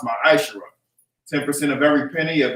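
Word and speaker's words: מַעֲשֵׂר: Means 10th in Hebrew and is pronounced ma'ashera.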